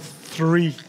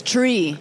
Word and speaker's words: three: they give some power she was teaching me how to say the word three yeah because he says tree I said I said but tree is another word and also [ __